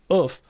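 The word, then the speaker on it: œuf: to shout out, I don't know how you pronounce this, Bill, you're going to have to help me, Oof, yeah.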